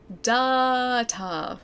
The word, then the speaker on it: data: It's pronounced with a long a like data.